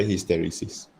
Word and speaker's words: hysteresis: Hysteresis. Hysteresis? No. How do you pronounce this? Dia sama dengan the word hysteria. So it's hysteresis.